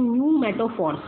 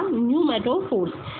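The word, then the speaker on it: pneumatophores: वो रूट्स कहलाती हैं न्यू मेटोफोर्स, इसमें पी साइलेंट रहेगा, न्यू मेटोफोर्स, और ये करेंगी हेल्प करेंगी गेट ऑक्सीजन फॉर रेस्पिरेशन।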